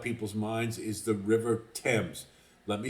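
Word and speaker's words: Thames: that goes through London they pronounce it temps and I've heard a lot of people mangle this that is the way you pronounce it River temps so sorry to be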